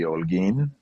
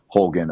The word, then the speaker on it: Holguin: But the Holguin name comes from my dad, and the way that you'd pronounce it down there would be Holguin, but it Mm-hmm. kind of just for me morphed to Holguin over the years.